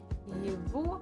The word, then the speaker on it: его: Это его чашка. Его. So we write g, but we actually pronounce as v. Just it's a little bit easier to pronounce.